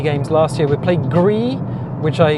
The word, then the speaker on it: Gris: We played Gris, which I mispronounced as Gris, because it's actually French for grey, so it's Gris.